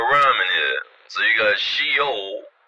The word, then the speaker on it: Sheol: Another name would be Sheol, right? And Sheol means hell, alright? Now we can just start rhyming here. So you got Sheol, right? Which sounds like shell.